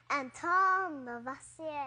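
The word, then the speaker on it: Antoine Lavoisier: That guy has a fancy name, but I think I need to pronounce it like this. It's French. Anton Lavoisier.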